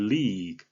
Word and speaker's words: league: 영어식 발음은 장음으로 하셔야 되고요. L 발음을 정확하게 해서 앞에는 을자를 가볍게 넣으시고 그 다음에 마지막에 G는 뒤에 모음이 따르지 않기 때문에 the league 이렇게 발음하셔야 되겠습니다.